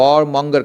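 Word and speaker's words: warmonger: या केयरफुल वार्मंगा देखिए ब्रिटिश में जो है ना वार्मंगर नहीं बोला जाता वार्मंगा वार्मंगा आर जो है ना थोड़ा साइलेंट हो जाता है वार्मंग वार्मंगा ठीक है तो लेकिन अमेरिकन में जो है ना वार्मंगर कहा जाता है।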